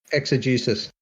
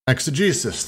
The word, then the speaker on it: exegesis: and the problems of ex i never can pronounce this word uh anyone exegesis exegesis thank you prevail over other problems of use